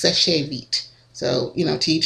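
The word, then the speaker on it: Seche Vite: of people pronounce it Sèche Vite, but if you look at the literature from the company, it says it doesn't use the accent on the E, and so it's pronounced Sèche Vite.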